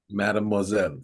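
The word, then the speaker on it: mademoiselle: say that Madam how you say it Madam mad moelle Madame moelle yes yeah you said it right whatever what's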